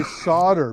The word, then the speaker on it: solder: is that that's why Americans say solder because the L is a silent L they're like a lot